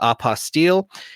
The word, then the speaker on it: apostille: available with opposite work i had to call it opposite otherwise it doesn't rhyme with unrestricted fees but i know you call it oppa steele and i we're going